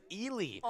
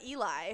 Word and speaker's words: Ely: ellie is it ellie well actually that is the common mispronunciation this is ellie the actual pronunciation is ely who knew three letters could trip people up so hard i would have said eli yeah it's e-l-y um i think will